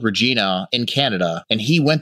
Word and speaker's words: Regina: and he says like welcome to Regina it rhymes with fun yeah you know and